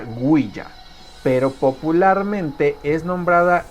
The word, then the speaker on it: Ouija: dando como resultado la palabra wiha que se pronuncia guya pero popularmente es nombrada guija o uija no hoy día digamos en lo que es